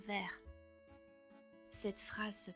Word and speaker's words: vers: Par ailleurs, on ne prononce pas le S dans vers.